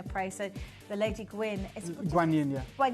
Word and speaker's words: Guan Yin: So the Lady Gwyn, Guan Yin, yeah. Or Kuan Yin, it's spelled in two different ways with a K or a G, but yes, she is the goddess of mercy and compassion, and this incredible being.